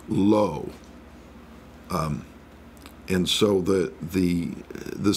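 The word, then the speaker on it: לא: Hebrew the word for not is would be pronounced lo and so the the the second table each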